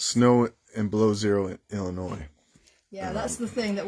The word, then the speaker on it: Illinois: Snow and below zero in Illinois. Yeah, that's the thing that we're joking about. So it's pronounced Illinois, even though when I first read it, I wanted to say Illinois because, you know, French.